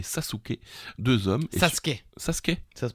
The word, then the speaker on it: Sasuke: Et Sasuke, Sasuke. ça se prononce Sasuke.